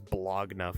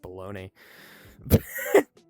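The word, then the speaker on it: bologna: Septic Guy where he says blogna for an entire episode not realizing it's pronounced baloney.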